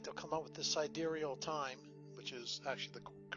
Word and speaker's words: sidereal: real fast like to come up with this sidereal time which is actually the correct way to pronounce it i've been pronouncing it wrong uh